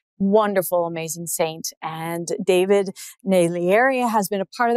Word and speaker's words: Naglieri: saying the Jeep Island the g is silent so many times it